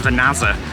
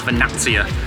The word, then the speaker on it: Vernazza: as it's written a lot of people will pronounce it as vaza and it's actually pronounced as vanattia and it comes from the Latin word Verna